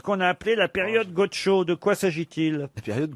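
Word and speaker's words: Godchaux: Ah non, mais là, ça s'écrit pas Gaucho. C'est Gaucho comme Gaucho. G-O-D-C-H-A-U-X, Gaucho.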